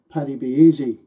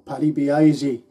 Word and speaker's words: Paddy Be Aisy: Often I'll play the Rocky Road to Dublin, followed by Paddy Be Easy, or Paddy Be Aisy, whichever way you like to pronounce it.